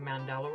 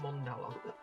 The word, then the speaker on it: mandala: Oh, apparently I'm pronouncing mandala wrong. It's mondala.